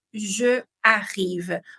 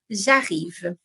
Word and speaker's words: j'arrive: No vamos a decir je arrive. On fait l'élision. Lo que nosotros estamos haciendo es l'élision. ¿Por qué? El verbo arrive empieza con una vocal. Y yo pronuncio je, sí, que termina con la letra E. En este caso no la vamos a pronunciar, así que vamos a poner el apóstrofe.